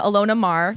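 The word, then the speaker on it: Maher: Deck four American rugby player Alona Mahar she pronounces her name for her for her Instagram Alona marah yeah gained significant social media followers during the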